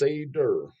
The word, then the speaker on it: Seder: for you to check out it's called Sader pronounce Sader so I got it right there God damn